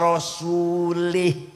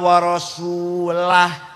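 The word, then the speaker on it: وَرَسُولُهُ: barium Minal musyrikina wa rasulih salah Allah tidak melindungi orang musyrik dan tidak melindungi rasulnya salah yang benar bacanya Innallaha barium Minal musyrikina waasulah artinya allah tidak melindungi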